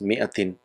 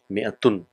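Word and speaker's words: مائة: Few of the countries they don't write this alif, but normally if you see, so this alif is written but it is not pronounced, but it's just pronounced as mi'atin, mi'atun.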